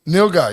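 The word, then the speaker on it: nilgai: n guy or something is that how you pronounce it Neil guy yeah guy yeah now Neil guy if you've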